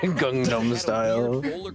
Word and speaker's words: Gangnam Style: Gangnam style.